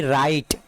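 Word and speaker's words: write: डब्ल्यू को हम नहीं पढ़ेंगे, तो इसको क्या पढ़ेंगे, WRIT, राइट।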